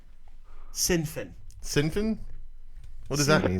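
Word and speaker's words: Sinn Féin: And it's pronounced Sinfin.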